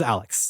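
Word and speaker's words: Alyx: the island for a licks lyx is how it's spelled but her name is Alex okay and Alex is the best she's a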